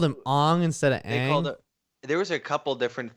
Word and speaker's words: Aang: Night Shyamalan movie where it's like Ong. It's like they called him Ong instead of Aang.